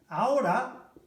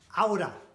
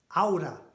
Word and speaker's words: ahora: Ahora It's just, notice how I say it, one of Spain's most common words. Ahora. Ahora. Not ahora. Yeah? H is silent.